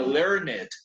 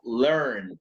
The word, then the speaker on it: learned: Acá no se pronunciaría learned, sino learned, learned, casi como una T, ¿no?